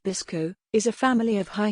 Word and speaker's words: BSCCO: strontium calcium copper oxide or bscco pronounced bisco is a family of